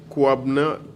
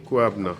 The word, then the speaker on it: Kwabena: Kwabna. K-W-A-B-E-N-A. Kwabna.